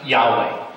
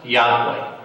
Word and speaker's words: Yahweh: babe was never lost the name was pronounced Yahweh it was regular pronounced